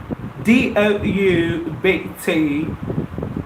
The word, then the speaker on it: doubt: b is quite same B is silent B is an actor